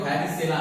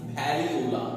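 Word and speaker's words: Variola: आप लोग इसको पढ़ोगे वैरिसेला, नहीं वैरियोला, नॉट वैरिसेला, ठीक है। तो वैरिसेला आप लोग बोल सकते हो, लेकिन वैरियोला इसका एक्चुअल प्रोनाउंसिएशन है वैरियोला। और इसका जो स्मॉल पॉक्स है उसके लिए वैक्सीनिया है। तो वहां पे भी आप उसका प्रोनाउंसिएशन कुछ ऐसा है, हमारे इंडियन प्रोनाउंसिएशन नहीं है, इंडियन प्रोनाउंसिएशन में ये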